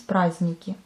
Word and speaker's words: праздники: On écrit праздники, mais on prononce праздники. Les jours fériés, on dit праздничные дни. Праздничные дни. À nouveau, on ne prononce pas le D, mais on l'écrit.